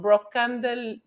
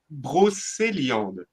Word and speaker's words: Brocéliande: region, and they're from Brocandel. No. We call it pronounced Brocéliande.